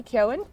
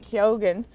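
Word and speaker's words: Keoghan: uh K like Barry Ken yeah but now he's been saying he's been saying kyogen but I don't know if he's just saying that for the Americans cuz usually the g is silent so now I'm all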